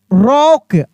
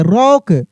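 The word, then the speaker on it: rock: The forest and सॉ अ रॉक, ROC के रॉक, रोक नहीं रॉक।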